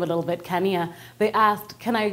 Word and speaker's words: Kanya: But people could not pronounce the name. They would say Kanya, Kanaya, Kanya, Kanye. Who knows?